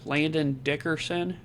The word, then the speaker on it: Landon Dickerson: Their guard, Landon Dickerson, yes, Tom Brady, that's how you pronounce it, and tackle Lane Johnson.